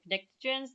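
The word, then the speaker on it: pnictogen: to remind myself that it actually starts with a P and so I often say Nixon's just to remind myself that it does start with a P but it's kind of a silent P the Nixons then group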